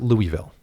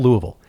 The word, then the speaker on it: Louisville: a week in louisville don't try to pronounce it louisville you will get shunned in the friendliest way possible because folks are pretty nice there but it's still louisville we uh the plan